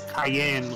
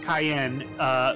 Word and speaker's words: Cyan: cot is cayenne garamonde which is supposed to be cayenne like the pepper but it was terrible as it said his name is pronounced cayenne which means sea swallow is a typical